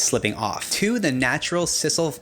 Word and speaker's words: sisal: off to the natural sisal I think it's pronounced sisal Cecil sisal we're gonna go with sisal fibers help with absorption